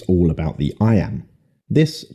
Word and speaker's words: iamb: the word i am is pronounced just like the phrase i am now let's expand that